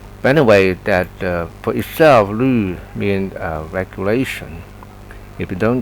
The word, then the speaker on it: 律: And it's not basically U, but with two dots above. This is the German way of pronunciation, Lu. And that down with the tonation mark going down, Lu. Not Lu, but Lu.